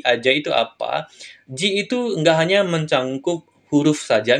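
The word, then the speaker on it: 字: dia berdiri sendiri seperti ini dia akan dibaca Ji kayak gitu minasang yang artinya huruf atau karakter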